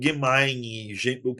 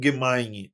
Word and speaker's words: Gemini: Os exemplos mais populares dessas IAGs são o chat GPT e o Google Gemine. A gente chama de Gemini, né? Mas é gemin ou gemain, tá? Eh, gemin é a pronúncia mais normal.